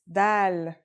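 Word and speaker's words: دال: our first letter is DAL it's just like the English D very easy to pronounce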